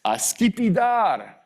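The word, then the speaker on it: скипидар: Russian was just a revelation. It was the words that have an accent at the last syllable.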